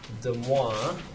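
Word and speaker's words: De Moivre: It's pronounced demo. Demois.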